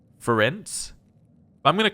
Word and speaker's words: Ferenc: Apparently I meant to say it like the end of circumference, so it'd be Ferenc. I'm going to call him Ferenic just because we've been